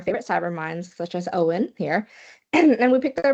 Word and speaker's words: Eoin: About the spelling, yeah, so that's the Irish spelling of the name. So it's basically the same name Mm. as Owen in English. It's basically the same and pronounced the same uh, by most people.